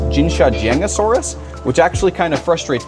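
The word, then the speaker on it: Jinshajiangosaurus: one at least on Wikipedia it said it's pronounced jinsha josus which actually kind of frustrates me because there's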